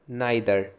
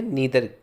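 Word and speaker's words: neither: Guys अगला word है नाइदर, जिसको ये हम प्रोनाउंस कर सकते हैं नीदर, ठीक है।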